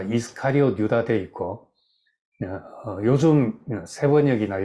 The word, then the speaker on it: 이스카리옷: 이 헬라 말로는 우리말엔 가롯이라고 적었는데 이스카리옷 유다 이렇게 되어 있습니다. 영어로도 다 이스카리옷 유다 되어 있고 요즘 새번역이나 요즘 번역하는 책들은 다 이스카리옷 발음 그대로 이스카리옷 유다라고 되어 있습니다.